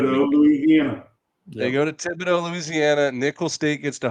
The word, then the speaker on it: Thibodeau: So the H is silent? I believe so. Just like the X is silent. The H is not the first silent letter that comes in my head in that word. No. The X. Obviously, dough, whatever. But that's just, I didn't know the H.